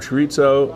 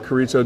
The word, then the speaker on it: chorizo: And it is actually, believe this or not, but it is actually a slice of chorizo or chorizo, depending on how you pronounce it, sausage.